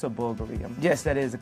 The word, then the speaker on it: Bulgari: is i'm glad you noticed that it's a bulgarian yes that is the correct pronunciation that bulgari only a thousand of these